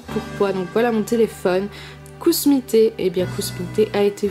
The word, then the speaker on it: Kusmi Tea: Il pense que ça se prononce que smité et pas cousmité. Et ben, je suis désolée de dire à cette personne que non, ça ne se prononce pas que smité.